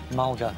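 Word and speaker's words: mulga: want Australian acacia voice rhymes with vulgar Michael Mulder yes founded in which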